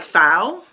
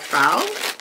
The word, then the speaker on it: Pyle: to pronounce this like p h l e like foul that's how i'm going to pronounce it let me know if i'm not pronouncing it right but that's how i'm pronouncing it like foul like a nail file but this one is